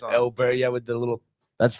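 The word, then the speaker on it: Åberg: We've been pronouncing his name for so it's Elbert.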